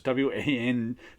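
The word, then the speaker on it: Wijngaard: It's got the Casper Wingard art, which is I'm not even sure how to pronounce his last name either. It's Wijaangard.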